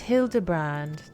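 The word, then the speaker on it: Hildibrand: Since parting ways, I've searched every alley and dive bar and ever keep for signs of this Hildebrand character. It's pronounced Hildebrand.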